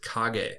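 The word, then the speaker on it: 影: word for Shadow and the Japanese word for shadow is KAG KAG is spelled k a g e and I'm pulling that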